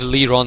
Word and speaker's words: Lyron: Yeah, I believe Lyron is the better pronunciation for that.